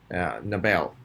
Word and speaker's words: Nobel: repeat after me novel where he shots second syllable novel Nobel the Bell whoosh whap first syllable right here